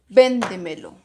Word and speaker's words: véndemelo: Recordemos, dice, sobre esdrújulas tienen el acento antes de la antepenúltima sílaba. Volvemos. Última, penúltima, antepenúltima y sería antes de la antepenúltima. Y siempre va tildada.